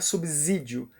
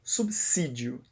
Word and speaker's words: subsídio: corporativo subsídio subsidiária subsidiar Não não é subsídio porque o s só pensam dizer quando está entre duas vogais e como B é consoante é subsídio pela mesma razão a